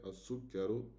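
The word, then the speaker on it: السكر: So the first shadda is only to tell us, okay, look, it's a solar letter. You're not pronouncing the al, but you're jumping to the c.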